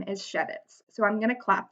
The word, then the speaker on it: Schewitz: My last name is Schewitz, so I'm going to clap the syllables I hear in my last name. Schewitz, 2.